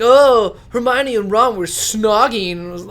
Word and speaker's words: Hermione: Also learned how to pronounce Hermione. Well, the movies. She was Hermione in my brain until the movies came out.